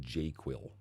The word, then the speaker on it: JQL: So I also pronounce it Jquil. So just a heads up if you hear me use that term, I'm talking about JQL.